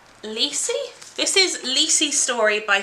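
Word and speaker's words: Lisey: the start of firk okay rhymes with see seats lessee this is lessee story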